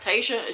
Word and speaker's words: Tyiesha: I always say her name wrong. TYIIESHA ZHANE.